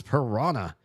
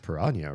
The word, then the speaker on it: piranha: It's pronounced piranha, right? Technically, I think in American English, everybody just says piranha because they don't know how to handle that h. But I think the nh in um Portuguese is pirania.